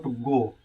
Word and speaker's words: goe: पहले आप लोगों ने पढ़ रखा होगा गो का स्पेलिंग GO होता है, लेकिन ये ओल्ड इंग्लिश है जिसमें पहले समय में गो को ऐसे लिखा जाता था, GOE लिखा जाता था। तो आप लोगों को गो ही समझना है।